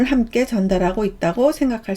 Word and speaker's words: 銭: 발음을 함께 전달하고 있다고 생각할 수 있습니다. 음독은 생입니다. 한국어 음은 전, 일본어 음은 생입니다.